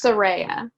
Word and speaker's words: Soraya: yeah so yeah and how do you say that sororia soraya it's saraya saraya okay yeah yeah so that's